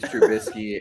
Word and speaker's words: Trubisky: Mitch Trubisky is correct.